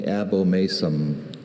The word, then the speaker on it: abomasum: Could you give me, are there any alternate pronunciations? I have only abomasum.